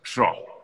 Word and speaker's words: Schorh: Y bueno, gracias, Ana María Schro, creo que se pronuncia así, ¿no? Sí, sí, Por ahí va la cosa, sí, Schro, sí, ¿no?